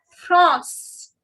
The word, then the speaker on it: France: The pronunciation goes France. France.